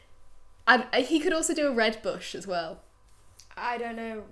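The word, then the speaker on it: Rooibos: But it is pronounced red bush. But I'll tell you this as a fun fact. Go on. My friend's sister's boyfriend is like really, really posh. Mm-hmm. He pronounces it red bois.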